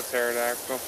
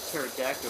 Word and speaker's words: pterodactyl: Yeah, the P is silent because you're pterodactyl and they think it's a T.